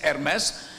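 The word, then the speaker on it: Hermès: So so I was doing that when I also met the CEO of Hermes pronounced Hermes and Hermes by people in Delhi it's Hermes. So anyway, I I talked to that guy and I said, "Why aren't you in India?"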